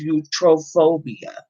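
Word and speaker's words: iatrophobia: said it you trolls so it's eutrophobia eutrophia it's spelled i a i'm gonna write that in there that's one of the words you gotta practice while you're washing dishes and i-a-t-r-o-p-h-o-b-i-a so that's basically you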